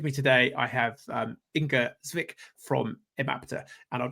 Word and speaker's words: Inge: And just so I get your name pronounced correctly, ing.